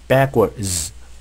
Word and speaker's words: backwards: 자, T 사운드, D 사운드가 겹쳤을 때 T 사운드를 발음하지 않죠? 발음 편의상. 마찬가지, D도 마찬가지입니다. 그래서 backwards 이렇게 발음하지 않습니다.